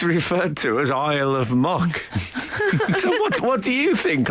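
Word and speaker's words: Muck: It's spelled M-U-A-C-K, but commonly it was known as the island of Mock.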